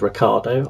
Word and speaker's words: Ricciardo: Daniel Ricciardo of Australia, whose surname is spelt Ricciardo, although he actually says it's Ricciardo, I will take his pronunciation, because if you can't pronounce your own name, then you're in a bit of trouble.